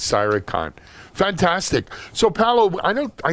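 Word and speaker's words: Cyr3con: it up thanks Helen my company's name is cyber con Cyr 3co n CI war see why are number three Co N and it's Sai recon fantastic Sao Paulo I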